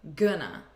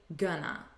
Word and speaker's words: gonna: we say gonna but notice again the pronunciation it's not with an o sound it's with a you gonna repeat gonna she's gonna be repeat